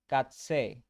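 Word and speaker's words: Katze: কে কে উচ্চারণ হবে কা বা খা, এটাকে কি বলবো? কাৎসে, মানে ক্যাট বা বিড়াল।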